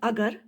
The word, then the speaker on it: agar: Many of the people pronounce it as agar, okay, and many pronounce it as agar. It is simply the matter of pronunciation. आपको जो पसंद है आप अगार बोले या आप अगर बोले, it is the same thing.